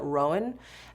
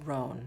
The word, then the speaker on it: Roan: I was calling it Rowan, and you're like, no, it's just Roan.